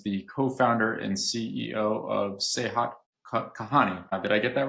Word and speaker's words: Sehat Kahani: Saeed Khurram is the co-founder and CEO of Sehat Kahani. Did I get that right in pronunciation?